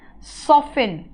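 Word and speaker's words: soften: अगर वो स्किन आपका क्या मुलायम कर देगा तो कह सकते हैं सॉफ्ट बना देगा, सॉफ्टन, टी साइलेंट है यहां पर भी, है ना।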